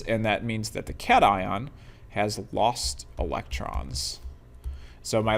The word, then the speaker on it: cation: These are called cat ions. C A T I O N. Pronounced cat ion.